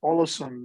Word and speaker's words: Ålesund: northwest coast, Ålesund, or Ålesund, as my wife would pronounce it, since she speaks Norwegian.